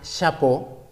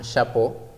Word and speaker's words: chapeau: Un chapeau, todas las palabras que terminan en E-A-U se pronuncian como O, un chapeau.